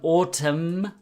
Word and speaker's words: autumn: in US English and autumn autumn we don't pronounce the N at the N don't